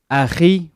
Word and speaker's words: Akhi: You're supposed to say it AkHi, but because that letter is not in English, it's pronounced as AkHi in English.